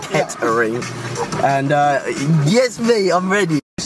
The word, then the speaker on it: Kettering: I kept saying Kittering, but apparently it's pronounced Kettering.